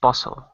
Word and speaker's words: puzzle: puzzle or puzzle it's puzzle it's puzzle like puppy like sun puzzle puzzle and also remember remember the z sound puzle Z puzzle puzzle